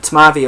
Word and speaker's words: Tmavý: So this guy is a 4.7% Tmavý beer, and this is just the Czech way of describing a Dunkel beer essentially. It's very similar to a German Dunkel beer, but Tmavý of course is how you say it in Czech.